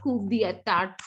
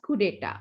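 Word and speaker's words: coup d'état: It's not coup d'etat, okay. It's being stated as coup d'etat, okay.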